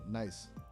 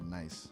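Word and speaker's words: gneiss: Apparently, it's a metamorphic rock and people actually pronounce it like nice.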